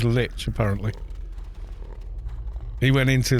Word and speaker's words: Lich: Apparently a linguist looked into the pronunciation. It is Lich, apparently.